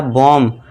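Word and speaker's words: bomb: बी ओ एम बी। तो यहां पे यहां जो देखिए एम के बाद क्या है? बी है। तो यहां पे बी साइलेंट हो जाएगा। और इसे हम क्या पढ़ेंगे?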